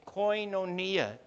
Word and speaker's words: koinonía: oído esta palabra koinonía se pronuncia koinonía en griego y quiere decir comunión